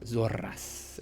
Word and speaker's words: Zoras: Lightning Dragon Knight Zoras, or Zoras, if you kind of roll your R's.